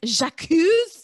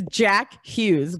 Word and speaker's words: Jack Hughes: pandemic made me into his name is jacques like jacques it's jack hughes but yes when they're